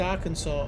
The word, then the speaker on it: Arkansas: you can answer the question why is it pronounced Arkansas and not Aransas I can't tell you it